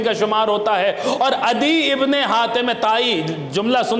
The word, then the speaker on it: عدی: جن کا نام ہے عدی ابن حاتم طائی، یا ایک تلفظ اس کا یوں ہے ادئی ابن حاتم طائی۔ اب یہ عدی کہیے یا ادئی کہیے، یہ جو عدی ابن